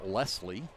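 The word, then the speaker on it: Laisle: and I'll correct myself as I heard the PA announcer pronounced his name Lesley lesle okay l a i s l e I call it I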